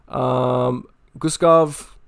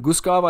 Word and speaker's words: Guskov: Guskov or Bogdan Guskov, I think is how you pronounce this guy's name.